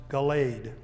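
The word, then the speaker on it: Galed: In some English translations, the word is spelled G A L E D pronounced Galade.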